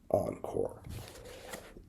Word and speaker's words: Encore: At stake is the stupidity that conditions what I named my seminar after this year, and that is pronounced Encore.